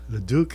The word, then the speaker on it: Leduc: real last name no it's actually Leduc the Duke l-e-d-u-c that's just a Facebook kind of thing because hey you could be however you want so I figured I'd spice it up and people mispronounce my the Leduc a lot of times it's LeDuc and they don't know how to pronounce it and stuff so I